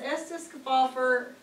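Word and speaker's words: Estes Kefauver: to find it on the back it says Estes cap offer that's how you say his name in Erin Tennessee dated March 22nd 1952.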